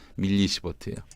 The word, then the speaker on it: 밀리시버트: 마이크로가 아니라 밀리시버트예요.